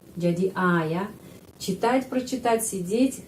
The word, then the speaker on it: прочитать: Menulis pro tapi bacanya pra karena прочитать penekanannya di sini karena itu O dibaca A.